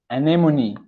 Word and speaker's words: anemone: Let's try pronouncing it. Okay, let's go. The first one is anemone. Anemone.